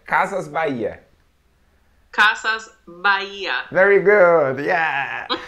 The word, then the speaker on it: Casas Bahia: yeah Casas Casas Maria Maria Maria Maria ye Baia that's right castles bye-yay Casa Maria very good yeah what kind of